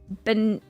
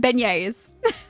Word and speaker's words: beignet: The G is silent. Beignettes. Beignet?